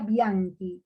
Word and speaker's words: Bianchi: Se escribe Bianchi, pero se pronuncia Bianchi.